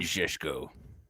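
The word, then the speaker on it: Šeško: sets the record straight the way benjamin cesco is pronounced how owen says it but we need to talk about him as well you mean zesco that's the one i feel like that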